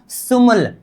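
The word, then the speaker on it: 스물: र नीचे आ जाने पर उच्चारण क्या करेंगे? ल मतलब इसका उच्चारण सीधा-सीधा क्या होगा? सुमल।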